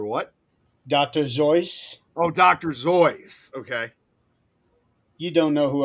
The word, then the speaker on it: Seuss: But for people who ask him, he would initially say that is actually Zoyce, but he came to accepting both pronunciations, and over time, that's how it became accepted.